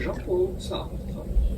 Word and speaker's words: Jean-Paul Sartre: Jean-Paul Sartre. In French again, Sartre. Jean-Paul Sartre. Okay, Sartre. Sure, close enough.